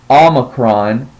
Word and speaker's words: Omicron: is Chrome and um it is pronounced as the O in not now this is another letter that has a couple of different pronunciations that's one of the ones that perhaps if you speak to another Greek student they may pronounce it a different way our book teaches us to say it as Omicron and that helps to differentiate between the last letter of the Greek alphabet which is Omega and Omega always makes